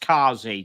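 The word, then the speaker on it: khazi: So it's pronounced Kazi.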